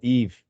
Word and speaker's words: Yves: here today so correct you did pronounce my name very well actually my name is Eve I am um